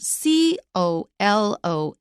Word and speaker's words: colonel: as an a rank in the military which is spelled c-o-l-o-n-e-l c-o-l-o-n-e-l Colonel that is a rank in the